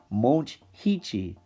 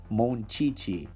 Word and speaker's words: Monchichi: it would be pronounced mulch heichi but no the h is supposed to be silent so it's still pronounced monchichi how stupid is that